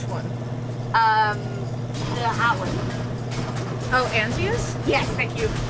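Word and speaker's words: Antinous: Oh, Antius? Yes, thank you. I've been calling him Andreas for like the past 2 days. You're adding a D when there's a D.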